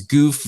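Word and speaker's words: Gouf: never say it right yeah I know it's goof gal yeah goof goof um even even with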